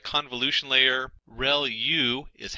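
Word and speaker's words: ReLU: There are multiple hidden layers like convolution layer rel u is how that is pronounced and that's the rectified linear unit that has to do with the activation function that's used.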